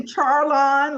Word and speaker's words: Charlon: and I want to make sure that I'm pronouncing it right it is charlon right or is it it's actually charlon like Char charlon okay I knew I said